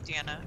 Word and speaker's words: Deanna: is it pronounced deanna because i went to school with this girl who spelled it d-e-a-n-n-a and her name was pronounced dina and mine was diana and it was confusing